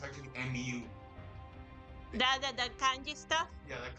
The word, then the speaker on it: MW: Call it MW, but it's actually MU. The kanji stuff. Yeah, that kanji is pronounced U.